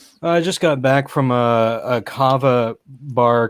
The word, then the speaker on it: kava: Kava. It's like Java but with a K.